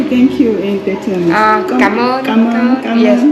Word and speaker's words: Cảm ơn: Cảm ơn. Cảm ơn. Cảm Yes, ơn. let me write here for you. Cảm ơn. Cảm ơn. Thank you so much. Really, thank you. And you. Cảm ơn.